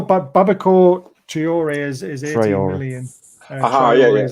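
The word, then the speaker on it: Traoré: Traore is how you pronounce it.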